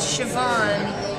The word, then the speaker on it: Siobhan: thank you for asking it's sioban okay so there's a v pronunciation then tell me this